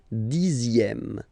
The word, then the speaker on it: dixième: Le dixième, so remember, even if you've got this X here, you pronounce it Z. Dixième, dixième.